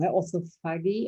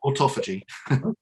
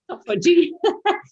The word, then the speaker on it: autophagy: And is that because we are using this term now, orthophagy? I'm having trouble pronouncing it. Autophagy. Autophagy.